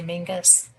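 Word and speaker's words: Menzies: It's spelled Menses, but they say Mingus.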